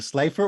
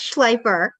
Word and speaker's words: Schleifer: has always been mutilated so it's a Slifer or sleeper it's schleifer and yes it's often mutilated but as long as